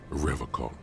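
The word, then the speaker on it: Revachol: forever call he pronounces Revol with a hard K unlike other people do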